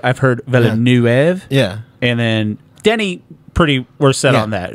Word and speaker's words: Denis: yeah there's Vu I've heard yeah and then Denny Pretty were set on that it's not Dennis yeah but I've also heard Americans say you know Dune by Denis vui you're